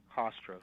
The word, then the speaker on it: Hofstra: Was it Hofstra University? I'm pronouncing it wrong. Hofstra, correct.